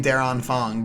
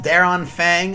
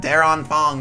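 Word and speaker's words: Der Anfang: you might just think i'm weird for saying daron fong but that's how they pronounced it in the trailer so that's what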